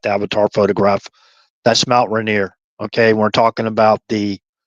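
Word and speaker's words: Rainier: That's Mount Reneer.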